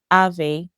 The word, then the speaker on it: Aave: Top protocols for this include Aave, which is spelled A A V E, and the Flare protocol or the Flare network.